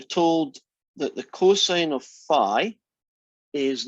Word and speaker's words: phi: That guy is the Greek letter theta, and this guy is the Greek letter phi, which I pronounce like, phi, phi, fo, fum, phi.